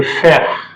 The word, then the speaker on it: frère: Then le frère, E is silent.